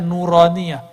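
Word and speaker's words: نورانية: Makanya ribat itu kita kasih nama nauraniah. Itu bacanya nuraniah.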